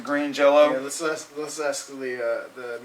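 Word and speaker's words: Green Jellö: jelly on the albums they had the umlaut you still pronounce it green jello let's ask the uh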